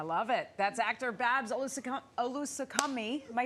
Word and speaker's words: Olusanmokun: That's actor Babs Olusanmokun. Am I saying it right? Olusanmokun.